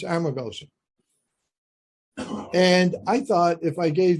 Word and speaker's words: Amargosa: practical purposes amargosa and it's not armagosa it's amargosa if you spell it right you'll speak it right okay so anyway it's amargosa i thought if i